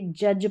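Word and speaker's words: judge: एज पढ़ेंगे, bridge पढ़ेंगे, जज पढ़ेंगे, जज पढ़ेंगे, डी साइलेंट है इन स्पेलिंग्स में।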